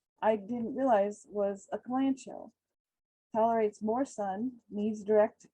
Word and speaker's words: kalanchoe: fun plants as well the kalanchoe is how i pronounce it it can be also pronounced cowl and koei has a variety of